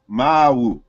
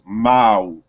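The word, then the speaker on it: ⲙⲁⲁⲩ: And so in Coptic, it is pronounced Ma'u. Remember that the W is a semi-consonant, it's not a vowel. So you wouldn't consider, you wouldn't really put U there, it's really a W. So it's Ma'u.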